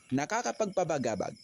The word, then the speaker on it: Nakakapagpabagabag: Nakakapagpabagabag.